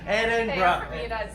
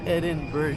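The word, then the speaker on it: Edinburgh: ano dito nung edinburg it's not edinburg talaga It's Eden br Ayan Eden br yon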